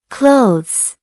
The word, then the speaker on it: clothes: Many learners try to pronounce every letter in this word. But in natural English, we say clothes.